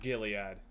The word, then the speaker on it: Gilead: It is pronounced Gilead.